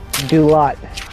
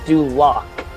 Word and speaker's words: Duloc: Dulot. Ooh. Pronounce it again? Dulot? No. Dulot is incorrect. It is Duloc.